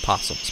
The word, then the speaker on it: opossum: show you a possum it spelled opossum but the the O is silenced possums pronounce possum and they're marsupials and